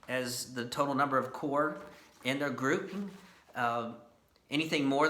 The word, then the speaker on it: corps: They were subdivided into smaller units referred to as corps. Spelled C-O-R-P-S. It is often mispronounced as corps. But the p and the s are actually silent.